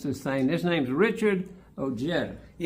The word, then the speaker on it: Ojeda: of West Virginia, and that J with the H sound wasn't really working out very well.